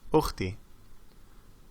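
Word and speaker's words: أختي: Alif takes a hamza because it's pronounced ukhti.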